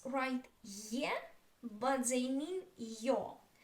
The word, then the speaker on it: Ё: So yo is always stressed.